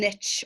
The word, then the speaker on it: niche: important to follow and niche or a niche as we pronounce it in Ireland when it comes to